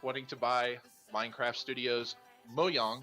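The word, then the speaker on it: Mojang: to buy minecraft studios mo yong which i just found out how to pronounce it this week thanks joe moe young studios they want to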